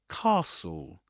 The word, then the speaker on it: castle: As you as you can see, the initial vowel sound in the word is different in the UK. In this accent, standard southern British English or RP receive pronunciation in those accents. The first vowel sound is this long a sound that you'll that that you'll hear, sorry, that you'll hear in words like car car.